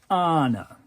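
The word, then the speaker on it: Ana: I walked up to this poor girl and said, people who know anything know that it's pronounced Anna.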